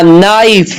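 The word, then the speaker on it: knife: silent है bring a नाइफ from the kitchen यहां पे के साइलेंट है द टीचर हैज शोन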